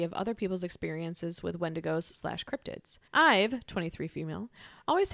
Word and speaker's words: wendigo: had an encounter with a wendigo or a wendigo when to go uh put the emphasis on the wrong syllable there okay so this